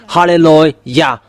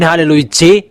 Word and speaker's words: hallelujah: book of Psalm there is the word saying halleluah because that is the words to glorify that it means to glorify that halleluah there is no one who saying hallelujah you No, they are wrong fans that people